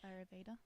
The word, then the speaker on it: Ayurveda: Well, in the Ayurveda tradition, I think I've pronounced that right. Ayurveda?